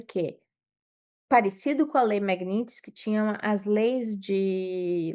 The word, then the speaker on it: Magnitsky: a lei Magnitsky, né, não é Magnitsky, porque o T é mudo, é mas eu adoro falar Magnitsky, mas é Magnitsky. Eu escrevi Magnitsky, Mas o T é mudo, seria Magnitsky, que é o igual sobrenome esqui.